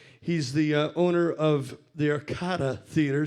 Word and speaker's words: Arcada: He's the owner of the Arcada Theater.